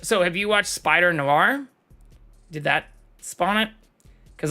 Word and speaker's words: noir: Noir. This word is pronounced as noir.